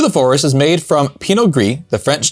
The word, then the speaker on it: Pinot Gris: forest this is a Pinot grisio Pinot Gris okay like grease it's definitely agree because